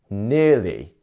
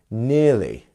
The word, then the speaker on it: nearly: you pronounce this one we have two syllables so if you want to try nearly which means we have our first syllable which is the stress syllable nearly nearly very good next one we